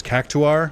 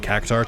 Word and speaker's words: Cactuar: sorry caar photo thing they did pronounce it as cactuar which like I know in my heart is the correct way to pronounce or to pronounce it I just kind of uh reject it I kind of just go yeah I'm going to say it wrong uh I've just been saying caar too long so I can't say